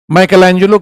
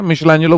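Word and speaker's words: Michelangelo: माइकलएंजेलो कह लो, spelling माइकलएंजेलो होती है, मिशेलांजेलो बोलते हैं।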